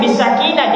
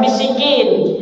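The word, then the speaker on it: بالسكينة: Harusnya bisakinah, dia membaca bisikin. Harusnya bil waqar, dia membaca bil fa'zi.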